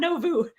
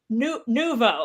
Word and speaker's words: Nouveau: Number one, no one can spell it, including my husband, who still insists on calling it Novu. And I'm like, no, it's not Novu. It's Nouveau.